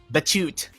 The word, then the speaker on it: Batute: Batute or Batute? No, it's a silent E. Batute.